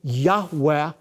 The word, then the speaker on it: Yahweh: God of Israel, which most Semitic scholars believe is pronounced a breathy Yahweh, a living, active form